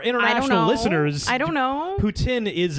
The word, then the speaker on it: poutine: However, because of the French-English thing, there is a little bit of controversy over the correct pronunciation? Yes. It's I guess poutine. so. It's poutine.